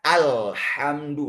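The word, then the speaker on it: الحمد: Ah terkadang di sini sebagian yang membaca bacanya alhamdu ada bunyi e. Ah ini istilah tajibnya tawallud. Ah dan itu tidak boleh di sini lahannya. Kalau ale itu lahan khofi ah. Kesalahannya ringan tapi tetap salah. Ah, bacanya tidak boleh al, bacanya alhamdu. Lamnya harus murni.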